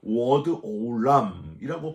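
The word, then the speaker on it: עד עולם: 이 영원까지를 히브리어로 워드 오람이라고 발음하는데, 이거는요 하나님께만 쓸 수 있는 단어예요.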